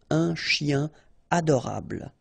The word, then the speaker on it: un chien adorable: Like here, for instance, un chien, a dog, adorable, okay, here, it would be tempting to do it, but then no, no liaison, so un chien adorable.